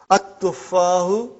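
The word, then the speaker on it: التُّفَّاحُ: But now your mind knows that that is a sun letter, so you will pronounce as at-tuffahu. You will put a shadda anta.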